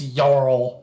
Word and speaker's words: Jarl: a travesty yes really that's how they say it in the game it's yarl yeah they say yeah well